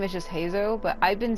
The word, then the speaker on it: Heizou: I know it's Z-O. U. Like, the U is there for the accent. Normally there'd be a dash above the O for the Zo sound.